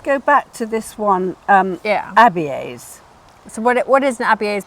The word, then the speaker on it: Abies: Otherwise, you always, if you've got more than one vowel, you'll pronounce them separately, Abies, okay?